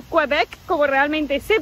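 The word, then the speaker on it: Québec: Acabamos de llegar a Quebec o Quebec, como realmente se pronuncia.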